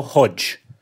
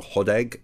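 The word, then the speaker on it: Hodeg: I'm classic on Friday on Eurosport and he pronounced the name as you did Lionel Hodag and he then was sent some messages from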